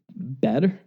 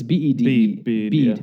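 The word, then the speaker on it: Bede: St. Bed, I don't know. It's bead, I'm sorry, bead.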